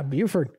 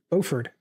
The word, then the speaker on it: Buford: High School even yeah Buford Beauford Buford actually pronounced both ways oh really I've only